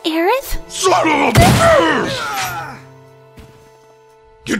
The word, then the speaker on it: Aerith: Because it's pronounced Aerith? Son of a bitch! You done messed up, Eris!